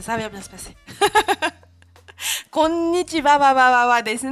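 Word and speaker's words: こんにちは: Ça se prononcera wa.Mais quand vous allez le taper sur votre clavier, c'est H-A. Konnichiwa.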